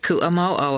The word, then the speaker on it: Ku'amo'o: The address given was on Ku'amo'o, pronounced Ku'amo'o according to my guidebook. In Hawaiian, each vowel forms a separate syllable, and they are always pronounced one way, unlike English, which must